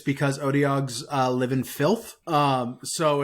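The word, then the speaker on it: Otyugh: Otiug? Like, I guess. That's how I've always pronounced it. I guess. For some reason, I always thought that the UGH at the end would have like an F sound, and I don't know why I thought that.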